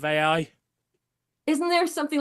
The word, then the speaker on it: AI: Yeah, who thinks that artificial intelligence is pronounced A1. Oh my God. Really? Yeah, last week she was at a conference or something, and all the way through it, she was saying A1 instead of AI.